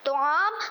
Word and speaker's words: طعام: آج کا ہمارا صحیح تلفظ ہے طعام کے طعام. طعام کے مطلب ہے کھانا کھانا, اور طعام صحیح تلفظ ہے. طعام غلط تلفظ ہے, طاء پر پیش نہیں زبر ہے.